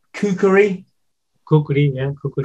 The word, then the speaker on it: kukri: Kukri, yeah, Kukri. Kukri, the legendary. In Nepal, we said it's Kukri.